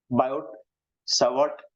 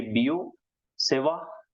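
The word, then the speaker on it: Biot–Savart: तो ये है बायोट सावर्ट लॉ एज we read it here. French pronunciation में हम बोलेंगे बियो सेवा लॉ।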